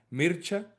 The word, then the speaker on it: Mircea: Creo que el nombre en rumano se pronuncia Mircha. Mircha o algo así. Eh, y bueno, Mircha Eliade, Mircea Eliade.